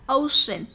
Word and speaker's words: ocean: Chữ C mà đứng ở giữa thì cũng được phát âm là sh. Ví dụ như là ocean, ocean.